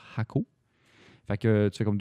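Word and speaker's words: Jacó: Ça s'écrit Jaco, mais ça se prononce Jaco.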